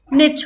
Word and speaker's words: niche: हम नीश पे सो बहुत लोग इसको गलत भी प्रोनाउंस करते हैं नाइट बोलते हैं आई डोंट नो क्या क्या बोलते हैं इसका करेक्ट प्रोनंसिएशन नीश होता है या फिर निच होता है बिकॉज ये एक फ्रेंच वर्ड है सो इसका प्रोनंसिएशन अगर